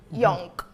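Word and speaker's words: Jönk: En realidad se escribe J-O, diéresis en la O, N-K, Jonk.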